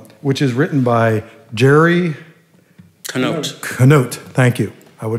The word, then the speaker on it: Canote: the back door which is written by jerry canote note thank you i would have said it